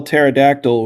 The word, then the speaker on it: pterodactyl: it's like if you spell pterodactyl with a p even though we don't pronounce it you still have to